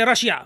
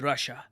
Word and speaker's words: Russia: say Rush yeah like normal Indians just say Russia what is this Russia look man here's the thing a country's name should be pronounced correctly the correct way to pronounce it is Russia no one says Russia in the entire world